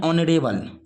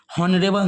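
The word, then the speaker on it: honourable: तो ऑनरेबल मैन को हम लोग हिंदी में इसको पढ़ते हिंदी में ऑनरेबल, हॉनरेबल नहीं, तो ऑनरेबल जो पढ़ते हैं, तो इसका उच्चारण एस से, इसका पढ़ते हैं एस से, लेकिन उच्चारण करते हैं ओ से।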